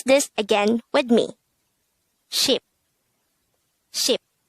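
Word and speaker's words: 십: the sign the korean version of number 10 is sheep and we should take note that numbers 1 to 10 is just composed of one syllable pronounce this again with me ship ship how do we spell ship in hangout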